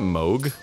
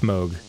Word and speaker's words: Moog: It can be pronounced as both ways. Technically it's Moog, but Moog is how it's spelled and it's way more cuter and more fun to say. Yeah. Moog. It rhymes with Boog.